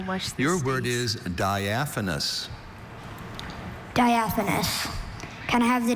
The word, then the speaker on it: diaphanous: D I A P H A N O U S.